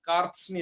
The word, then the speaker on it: कार्त्स्न्य: कार्त्स्न्य, इसमें थोड़ा संयुक्त शब्द ज्यादा है, थोड़ा पढ़ने में आपको दिक्कत हो तो उसे ठीक कर लेना। कार्त्स्न्य इसका उच्चारण है।